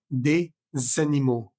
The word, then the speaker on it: des animaux: Por ejemplo, des animaux, des animaux. Esa S de D se pronuncia para unirse con ánimo, des animaux.